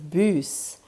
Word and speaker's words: bus: For those of you who know how to read, it's written the same way as in English, but it's pronounced bus.